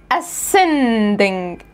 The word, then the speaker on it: ascending: طب هنا السي بس لوحدها وجه بعدها ايه، هتبقى ascending، ascending.